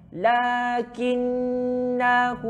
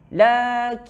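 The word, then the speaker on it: لَّٰكِنَّا: Kena baca dengan 2 harakat.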